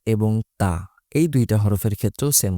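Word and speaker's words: ط: ত এবং তা এই দুইটা হরফের ক্ষেত্রেও সেম কথা। তা স্বাভাবিকভাবে উচ্চারণ করতে হবে। আর ত একটু গলার গভীরে এনে তারপর উচ্চারণ করতে হবে।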